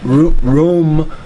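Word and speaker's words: Rūm: And she already said it's R-U-M. Pronounced Rome, not Rome.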